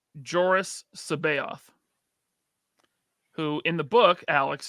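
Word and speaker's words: Joruus C'baoth: But then they have, and everyone pronounces his name differently. I have always said Joris Sabaoth, who in the book, Alex Sanchez, is a cloned Jedi.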